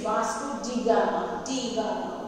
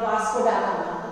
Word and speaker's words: Vasco da Gama: he is a Portuguese, so the pronunciation is Vasco da Gama, okay, not Vasco da Gama, okay. His pronunciation is different for different countries. So Portuguese, in this way they pronounce.